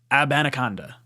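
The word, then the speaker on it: Abanikanda: his name is easy just add AB before Anaconda AB Anaconda that makes it a lot easier say this is what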